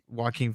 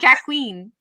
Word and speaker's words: Joaquin: And she's like, oh, is that how you pronounce that? I was like, yes, not Joaquin. So whenever I see his name, I have to it's Joaquin, not Joaquin. It's Joaquin Phoenix.